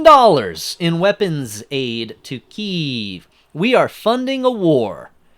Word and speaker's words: Kiev: blah long long article Kiev not Kia okay Kiev so I was saying it right back to the article U.S pledge is another 2.6 billion dollars in weapons Aid to Kiev we are funding a